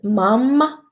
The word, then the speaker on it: mamma: And doubled consonants are produced longer, as mamma or mom.